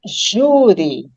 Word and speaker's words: júri: A palavra júri é uma paroxítona terminada em i. Então, eu acentuo a sílaba tônica dela, ju, certo? Porque ela termina em i.